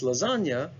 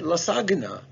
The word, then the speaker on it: lasagna: are 100 sure that's lasagna okay it might still be a good idea to write it down because don't you want to know why that g is silent why isn't it lasagna so you could get